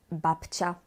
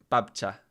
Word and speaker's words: babcia: Babcia. Ciebie. Ciebie. Czy w słowach babcia i ciebie jest ci? Tak, bo dźwięk ci piszemy albo jako C z kreską, z takim akcentem, albo też jako CI.